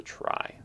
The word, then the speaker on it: trie: retrieval and so like it seems like it ought to be pronounced tree but it's not it's pronounced try and a try is a tree that